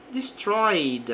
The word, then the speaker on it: destroyed: Pois bem, a tempestade que é storm destroyed. Aqui o verbo está no passado, mas não pronuncie o e aqui do verbo.